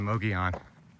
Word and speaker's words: Mogollon: Look at the Mogollon where the rim is, as the locals say.